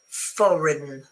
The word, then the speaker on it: foreign: Because you say foreign. Foreign. So the G is completely silent.